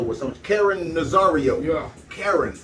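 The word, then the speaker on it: Caron: some karen rosario yeah karen yeah this name is okay it's spelled c-a-r-o-n not like white woman okay quran no that's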